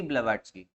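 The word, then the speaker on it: Blavatsky: ठीक है, क्या है प्रोनाउंसिएशन ऐसा होता है, मैडम एच पी ब्लेवेट्स्की।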